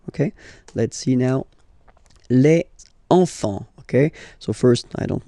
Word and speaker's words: enfants: You don't pronounce the S. Enfant. Okay, and now we can focus on the liaison here. So you should make the little link. Les enfants.